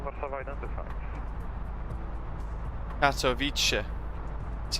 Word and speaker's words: Katowice: Katowice, that's how you should pronounce it. Is that better? Katowice. It's the bit at the end, the TSE, that I struggle with.